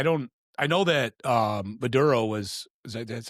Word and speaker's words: Maduro: I mean you know it's like um I I don't I know that um Maduro was is that that's how you pronounce? Yeah. Maduro.